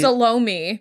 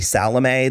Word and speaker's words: Salome: epic about salome which they salomi they pronounce like salami the whole time and i find it upsetting yeah maybe i'm wrong i've always known it to be salome the dance of the